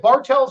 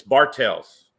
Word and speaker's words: Bartels: okay 2019 4x4 mod for what I points yeah with the Outlaws with the Outlaws yes is it Bartels or Bartel it's Bartels I cleared that with